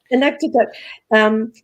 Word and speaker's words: Inuktitut: Is that the right pronunciation? Inuktitut.